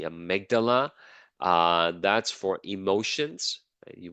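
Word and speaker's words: amygdala: a certain way um there is the amydala that's how you pronounce this one the Amala uh that's for emotions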